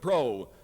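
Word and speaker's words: Preaus: The new candidate is Fred Pro, whose name rhymes with moose."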